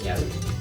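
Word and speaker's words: ñawi: Ya saben cómo se escribe ñavi. N-A-W-I. ¿Sí? Ahí está la escritura y la pronunciación es ñavi. La W se convierte en una especie de B.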